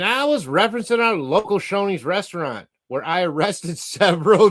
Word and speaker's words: Shoney's: It ain't, you put the word honey up there, you say Shoney's. Because honey, without the S, right? But we know it's Shoney's, where I arrested several